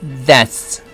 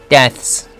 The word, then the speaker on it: deaths: unnecessary deaths, unnecessary 네 할 때 스트레스가 있죠. 그래서 unnecessary deaths, death에다가 s를 붙인 거죠. 발음은 death에다가 z가 있으니까 붙여가지고 좀 더 빨리 해야 되죠. 그러면 발음이 deaths, deaths.